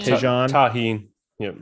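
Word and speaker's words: Tajín: I'm gonna butcher the name. Tajin. Tajin. Tahine. Yep. Tahine.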